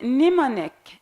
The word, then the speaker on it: mnemonic: knife nothing knife knife word like mnemonic mnemonic the M it's existed at the first letter in the word so it can't pronounce we say mnemonic not in the omenic now the word sword